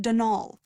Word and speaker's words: Donal: D at the end so it's pronounced denol that's the way you're supposed to spell it which is to say that's the way the Irish spell it proud of his Heritage